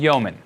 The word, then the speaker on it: Yeoman: first tool that will be using is called yeoman ok yeoman is spelled yeo ma n and there's a javascript